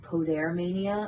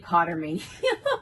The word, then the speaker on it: Podair Mania: My first one was with Podair Mania. I just found out I've been saying it wrong this entire time. I've been saying Potter Mania. Podair Mania.